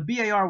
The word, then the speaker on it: BAR: The automatic rifleman was armed with an M1918A2 Browning automatic rifle, commonly called the BAR. Always pronounced B-A-R, never bar.